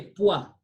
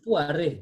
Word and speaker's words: poire: par, We say OI is wa. So we say poir, poir, poir, not poire, because the E at the end is silent. It does not have acute.